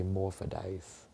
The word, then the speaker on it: hermaphrodite: things differently and so instead of us saying her Maite we would say morphodite so you know morod